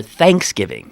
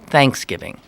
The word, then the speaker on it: Thanksgiving: the way you say I think around here they say it's more of a first syllable accent right Thanksgiving I don't say it that way I say Thanksgiving that's how I say it you do too I just it seems like one of the things I noticed when I moved to Pittsburgh 30 plus years ago is that a lot of words where I would accent the second syllable pittsburger accent the first uh also like uh